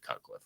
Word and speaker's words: Cutcliffe: well his name uh last name rhymes with rutcliffe and his first name is the same as mine it's David cutcliffe right my name's actually